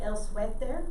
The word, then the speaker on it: suéter: The only difference is you have to remember to leave out the W, because they don't use SW. They just do SUETR. So say el suéter, el suéter, el suéter.